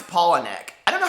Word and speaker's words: Palahniuk: See, I pronounced his name my entire life, Palahniuk, and now it's Palahniuk.